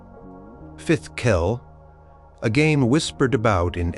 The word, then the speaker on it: fidchell: This was Fitchell, pronounced something like Fifth Kell, a game whispered about in epic sagas and heroic tales often played by legendary kings and warriors.